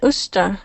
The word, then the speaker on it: used to: What does it mean, usta? Usta. That's exactly how we actually pronounce the word. Okay, and so instead of saying used to, we actually say used to.